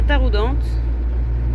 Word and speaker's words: Taroudant: Ça y est, on arrive à Taroudante. Pour le... Toujours T aux dents, mais non c'est Taroudant. Taroudant. Et on dit le T soi-disant aussi.